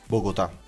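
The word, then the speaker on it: Bogotá: oh god, there's an accent on the A. I don't know how to say this. Wait, here we go. Bogota.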